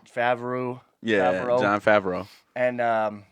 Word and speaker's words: Favreau: I don't know how to pronounce his name. John Favreau. Favreau.